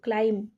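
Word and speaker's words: climb: नाही हमको एमती पढु क्लाइंब क्लाइंब एटा बी टा साइलेंट थाए ठीक अछि बी टा होची आपनको साइलेंट थाए एटा होची आपनको क्लाइंब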